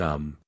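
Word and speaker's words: homme: a piece of bark he learned from darnet that it was pronounced um and in the same way he was taught to pronounce ape sing and tree arbra he was a most eager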